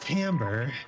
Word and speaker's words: timbre: the official word is tamper which is a French word so it's spelled awfully laughs it's spelled like that uh September yeah it's pronounced Timbre because it's French and you can count